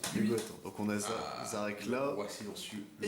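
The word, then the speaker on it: Szarekh: Du coup, alors je vais être franc, je n'arriverai jamais à prononcer son nom je pense. Zarek. C'est Zarek, c'est juste C'est Zarek.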